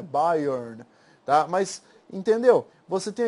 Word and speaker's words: Byron: As pessoas falam Byroniano, mas a pronúncia correta aqui de Byron é Byrne, tá?